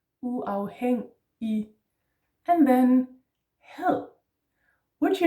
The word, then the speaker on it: uafhængig: And then the IG is just an E in Danish. Uafhængig.